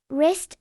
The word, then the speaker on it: wrist: Wrist. Silent. W.